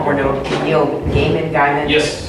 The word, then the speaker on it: Gaiman: I was gonna say, we're doing Neil Gaiman. Yes. Gaiman. Gaiman.